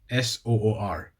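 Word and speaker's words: sur: S-O-O-R. The pronunciation's a bit, it feels wrong for me as I'm used to the Swedish, which is Soor, which is S-U-R, which is a real emphasis on that U, you know.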